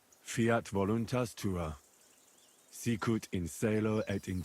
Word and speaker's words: Fiat voluntas tua: You're saying it wrong. Listen. It goes like this. Pater noster, qui es in celis, Sanctificator nomen tuum. Adveniat regnum tuum. Fiat voluntas tua.